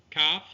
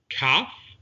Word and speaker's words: Kaf: Kaf is pronounced with the dagesh, k, or without the dagesh, ch, that grinding sound at the roof of the mouth.